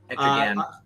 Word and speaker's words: Etrigan: Do you say Etrigan or Gan? Etrigan. I've always said the RG. soft G.